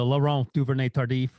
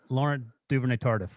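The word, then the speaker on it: Laurent Duvernay-Tardif: given what i say that's pretty close laurent duvernay tardif i guess what you said oh i didn't go full french canadian french french canadian yeah so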